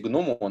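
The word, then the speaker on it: γνωμῶν: Гномой, но в генитиве в плюралисе гному он ударение на последний слог.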